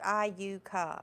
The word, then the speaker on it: Iuka: And it's Aayuka. Oh, he says pronounced Iuka.